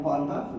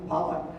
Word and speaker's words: Pollock: But our 2 individuals, one Anna Pollock with the, I said it wrong, Pollock.